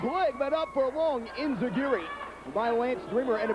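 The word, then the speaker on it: enzuigiri: trash put his leg but up for long in zagiri by Lance dreamer and a beauty nice to hear a playlist lay guy pronounce enzagiri correctly and no one who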